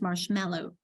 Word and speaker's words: marshmallow: Marshmallow, because the marsh is what gets the accent. Yes. Marshmallow, that we kind of swallow the other. It's not a clear marshmallow, but it's marshmallow.